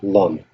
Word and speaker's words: ln: on it yeah and next one is Ln or we pronounce it long which is a natural